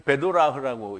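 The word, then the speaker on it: bdolach: 근데 그때 거기에 베델리움이라는 말을 이제 원래 원음으로는 읽기를 베도라흐라고 읽는데요. 그런데 그를 베델리움이라고 그렇게 이제 기록을 했어요. 베드라후인데 베들리움이라고 그렇게 읽 읽었는데요.이 베도라흐는 유래가 어떤 단어에서 유래가 되냐면 나누다 바다에서 유래가 됐어요.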